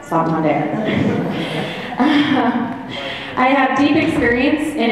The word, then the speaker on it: Santander: That is how you say it, Santander.